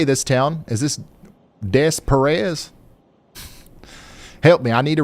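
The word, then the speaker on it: Des Peres: Is this Des Perez? Help me. I need to record that one. Deare. How do you say it? Depair.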